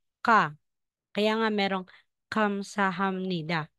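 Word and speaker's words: 감사합니다: ka kaya nga merong Kamsahamnida so hindi po siya gamsahamnida Kamsahamnida kapag po nalagay po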